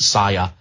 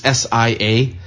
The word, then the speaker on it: Sia: So I've heard it pronounced SIA, but it's SIA.